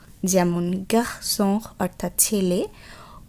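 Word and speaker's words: garçon: প্রথমেই আমরা দেখব ও এন অ, যেমন গার্সন অর্থাৎ ছেলে। ও উ উচ্চারণ হবে উ, যেমন বিজু অর্থাৎ গহনা।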